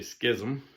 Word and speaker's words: schism: definition of each so schism or some people pronounce this ism but i'm from jersey so i'm going to say schism is the refusal of